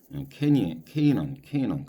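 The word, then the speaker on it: Canaan: 족장이라는 거서 부터 하다 from 어떤 사람이면 케넌 가나안을 갖다가 케넌 이렇게 발음을 하더라고요 인데요 보통 장이라고 할 때는요 of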